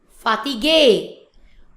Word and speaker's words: fatigue: So in French is we pronounce fatigue. Fatigue. The sound is A. Fatigue. Fatigue in English, fatigue in French.